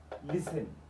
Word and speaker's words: listen: ay ku saabsan yahay waxaad ogaataa T-da marar badan waxay noqotaa silent ama mid aanan lagu dhawaaqayn silent T silent T xarfahani aad u jeedid halkan iyo jumlooyinkan oo la adeegsanaya xarfahan dhamaantood waxay qabaan TL words listen ma listen often whistle rustle castle apostle trestle macnahooda aan